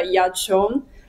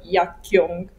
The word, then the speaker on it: Yaqiong: c'è il mio nome, che si pronuncia Yachon, ma è scritto Yakyong, quindi molte persone sbagliando pronunciando Yakyong, invece non si pronuncia la C finale e la Q si pronuncia C in cinese.